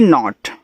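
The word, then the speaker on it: know: डिड एन ओ टी नॉट के एन ओ डब्ल्यू देखो इसको पढ़ते हैं नो ऐसे नो के एन ओ डब्ल्यू को नो पढ़ते हैं। इसमें जो आपका के होता है वो साइलेंट होता है।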